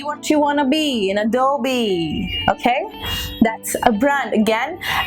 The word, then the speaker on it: Adobe: this switch again is mister nouns and people pronounce that a dog a dog because what they think is this